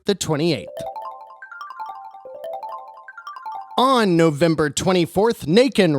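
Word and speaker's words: Nacon: On November 24th, NATIAN rhymes with bacon, and they must have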